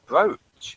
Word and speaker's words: brooch: actually brooch. Brooch. Yeah. Yeah, that's how it's spelled, I think. Must be from Dutch. I have those double O's that are pronounced like O.